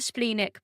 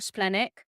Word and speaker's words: splenic: okay so I um I'm a spleenic projector or splenic again like another slight difference of pronunciation there and what they what